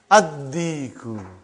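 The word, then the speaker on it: الديك: Addiku. Why you did not pronounce Lam? Because it is sun letter.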